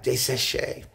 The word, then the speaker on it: desséchées: Is that how you pronounce it? Yeah, desséchées.